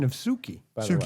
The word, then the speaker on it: Sookie: And great pronunciation of Sookie, by the way. Sookie.